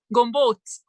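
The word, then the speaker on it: túrógombóc: It's called turogombot. It is Turogombo. Did I say it right? Almost. I'm always traveling for business. So turogombo? Gombot. Gombot. Good.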